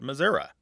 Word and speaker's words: Missouri: met a lot more people who said Missouri, because it's what they call an age-graded pronunciation. It is a pronunciation that it belongs to an older generation that is passing on.